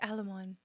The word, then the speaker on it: Aleman: Where do I even begin with you, Alammon? Did I say it right from last week?" Yes, you said it right. Said it right. Better. Correct.